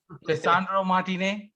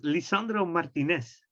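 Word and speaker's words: Lisandro Martínez: ravish so uh regarding how do we pronounce the name cassandra martinez is it uh it's it's lisandro martinez okay okay and we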